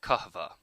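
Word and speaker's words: kahve: the Ottoman Empire where the Turks called it kaha by the way the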